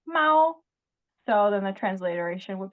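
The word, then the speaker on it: 猫: But it's pronounced Mao.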